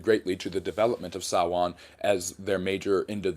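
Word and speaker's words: Samhain: Um and that led to several of the different practices that came at Sawan which is s a m h i n. It's mis it's pronounced sawan though and that is the end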